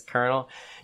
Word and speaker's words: colonel: uh what's it uh colonel connell it's spelled connell the way it looks but it's colonel dude you're talking to